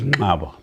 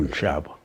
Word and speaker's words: Nqaba: Incidentally, the name was Nqaba, pronounced. But in Nqaba, they changed it to Nshaba. As I am speaking, I am of the Nshaba clan, which is a distortion. It should have been Nqaba, not Nshaba as in anxious.